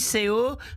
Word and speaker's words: Seu: Oui, parce que on dit CO, mais ça s'écrit S-E-U, plus loin, E-L-I-A-S.